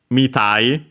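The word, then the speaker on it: みたい: Mitai, accent on the mi of mitai, or without anything.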